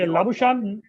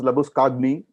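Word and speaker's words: Labuschagne: yeah, So yeah, because they couldn't pronounce Labuskagni, they made it Labushin. Labushkagni, Yeah. Labushan. So I mean, we have champagne, which is the same spelling, but then we say champagne. So they said if it is Labuskagni, it should be Labushin. What's the big deal?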